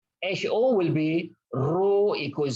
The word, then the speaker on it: rho: Where the symbol is, the pronunciation for that symbol is rho, R-H-O, rho.